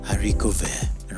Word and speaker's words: haricot vert: Haricot vert rhymes with Marine Serre, a French label that colonizes second-hand clothes, upcycling them to make up 50% of the brand's collections.